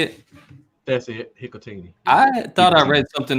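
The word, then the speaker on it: Hikutini: That's it, Hikatini.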